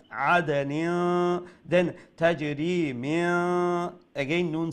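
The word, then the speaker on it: عَدْنٍ: Make sure you do ikhfa there, okay? Noon has a tanween, and after tanween is letter ta. So we have to pronounce the tanween with ikhfa. عَدَنٍ.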